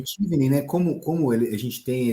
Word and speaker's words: Chevening: Para a galera que está ouvindo, o Tivni, que se fala, né? Ele se escreve, leria em português aí de forma errônea, claro, mas em português seria Chevening. Eu vou deixar link aqui na descrição, tá?